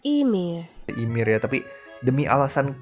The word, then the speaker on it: Ymir: I read it as "yuhmeer"? So this Ymir is supposed to be pronounced as "Eemeer" Eemeer But since it's